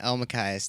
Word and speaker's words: Elmakias: Elmakias.